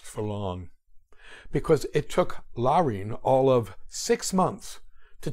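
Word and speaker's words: Laurine: it was Copeland's sister Len spelled l a r i n but pronounced Len eight years his senior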